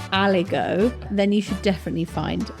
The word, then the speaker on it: aligot: And is that spelt with a silent T at the end? Yes, it is.